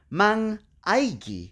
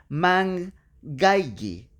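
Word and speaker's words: mangaige: Si agregamos el prefijo man a la palabra gaigi y lo dejamos así, se va a pronunciar man-aigi, que no es una palabra.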